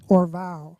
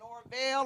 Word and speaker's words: Orval: It's pronounced Orval. Orval. I've been saying Orville, Orval, Orville.